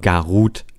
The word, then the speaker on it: Garuda: wie dem auch sei es wird gar oder geschrieben es ist der adler wird aber gar ruth ausgesprochen so und damit haben